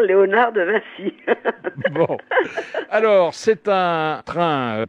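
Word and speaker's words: Vinci: françaises avec l'exposition de On peut dire encore Léonard de Vincy ou il faut prononcer autrement ? Non, faut dire non, il faut dire Léonard de Vincy.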